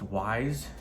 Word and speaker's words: Wyze: I do have I believe it's pronounced Wise. It's WYZE.